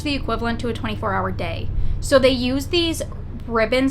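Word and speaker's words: Dae: and night cycle so you have day but it's spelled D AE and then Slumber but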